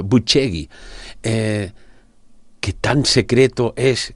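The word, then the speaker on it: Bucegi: ¿Qué crees tú que podría revelar el hallazgo subterráneo en en Bucegui eh que en romano se pronuncia? Porque le pregunté, "Oiga, ¿y cómo se pronuncia en romano?" Buchegi.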